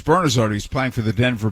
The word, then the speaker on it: Bernazard: your head sometimes and norm kept calling him bernazzard and his name was bernazard he's playing for the